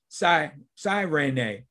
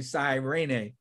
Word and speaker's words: Cyrene: Lucius of Cyrene, or some say Cyrene. So it's pronounced both ways, but we'll say Cyrene.